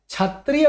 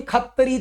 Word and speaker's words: क्षत्रिय: मिलता जुलता होना चाहिए क्षत्रिय को ही खत्री क्षत्री बोल देते हैं भैया क्षत्रिय खत्री क्षत्रिय खत्री